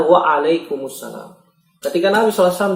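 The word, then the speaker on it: وعليكم السلام: Kumsalam apa artinya? Kumsalam. Jawab dengan benar waalaikumsalam.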